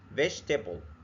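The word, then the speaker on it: vegetable: عندنا كلمه تانيه زي كلمه فيجتب متقسمه على ثلاث قاطع فيجيب فيجتبل فيجتبل متقسمه ثلاث اجزاء عشان تسهل علينا عندنا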